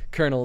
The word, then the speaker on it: colonel: i know colonel that's only because kernel is spelled really really weird and then you pronounce it like a popcorn kernel and that was one